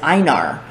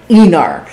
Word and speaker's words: Enar: So I kept pronouncing Enar as Einar in my head, so you'd have Ivar and Einar. And I was like, I can't do that. I gotta reverse this. And I made a conscious effort to pronounce it Enar.